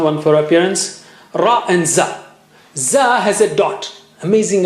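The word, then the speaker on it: ز: Ra and za. Za has a dot. Amazing Arabic. You see, again, a dot above signifies stronger airflow. Zzz.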